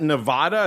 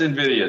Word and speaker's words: Nvidia: not that familiar with how do you pronounce this is that is that Nevada is that how you say that sir that's Nvidia sir oh oh I'm not